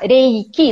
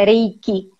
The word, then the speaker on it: Reiki: modo geral é isso a palavra Henrique na verdade é essa é a pronúncia não Eric três e quem são